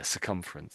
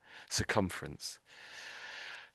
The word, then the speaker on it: circumference: say it for you so there's sort of like several syllables here so there's sir is one syllable I would say sir come on another syllable circumerence that's it yeah circumference that's it you've got